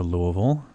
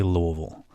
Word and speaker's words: Louisville: It's part of their tourism thing, and it shows all the different ways you can pronounce it. And if you ask different people there, it depends on where you're from and all this other stuff.